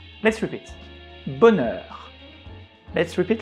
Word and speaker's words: bonheur: You may think that the combination of O and N should be ON, and you are right. But we have the letter H just after. which collapse the on combination. So we split the sound in two syllables, bonheur. And also you can remember that the combination of the letter E and U together make the sounds E, bonheur.